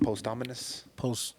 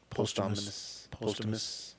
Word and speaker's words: posthumous: I think it's a really great is it post-ominous? Posthumous. Post Malone? Posthumous. Look up how to pronounce.